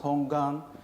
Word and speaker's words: 本願: Primal vow and in Japanese means hongan it's pronounced hongan and that's why we get the hongan G